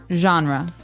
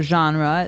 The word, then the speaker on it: genre: We say genre. Genre. Or genre. This kind of sounds French. Is it French? I think it comes from French. It's a GE word, so genre. It's a soft sound.